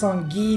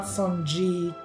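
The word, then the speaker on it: Songi: try to pronounce correctly it's sungi not sunji you know when you pronounce it one way for your entire childhood then you learn it's wrong it takes some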